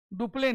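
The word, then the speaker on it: Dupleix: डुपले ने ठीक है डुपले ने यह साइलेंट होता है इसलिए इसको डुप्लेक्स नहीं पढ़ते हैं क्या पढ़ते हैं डुपले डुपले ने शुरू किया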